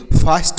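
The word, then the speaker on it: fast: एल ए एस टी लास्ट, एफ ए एस टी फास्ट हो गया, एफ ए एस टी फास्ट हो गया।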